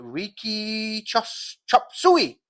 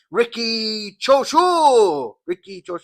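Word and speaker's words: Riki Chōshū: Number 9, Riki Chop Suey. No, Chop Suey. Ricky Choshu.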